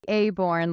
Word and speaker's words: Aborn: we have oh I pronounce a aorn like Acorn with a B yeah okay aborn